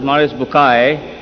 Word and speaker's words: Maurice Bucaille: eminent scientist and a scholar of quran dr maurice bukhail pronounced as maurice bukai am i right doctor doesn't matter okay uh